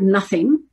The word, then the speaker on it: nothing: So for example, the word nothing is something that we would teach kids to just remember, because that O is not pronounced the way they're expecting it to be pronounced.